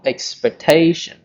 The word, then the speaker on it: expectation: denial of the word X 5 which is expectation so the stress is on certs or expectation okay and the word expectation referring to the